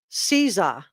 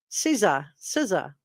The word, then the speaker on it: Caesar: If you think I did a good job, that's just it's pronounced Caesar. Thank you. I didn't know how to pronounce it. Thank you so much, Tia Michelle. Caesar.